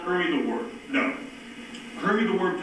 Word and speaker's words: Hoimie the Woim: Hoimie the Woim, to set it up, is from New York City, so hence he pronounces it Hoimie the Woim.